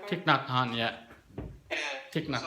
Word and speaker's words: Thich Nhat Hanh: I can't pronounce his name. Is it Thich Nhat Hanh? Thich Nhat Hanh, yeah.